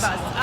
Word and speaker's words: Kiribati: It's spelled Kiribati, but It's Great pronounced Kiribati.